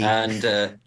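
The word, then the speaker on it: Guiu: Gu? Gooey. I can't remember how you pronounce his name. Mark Gui. Gooey. Gooey.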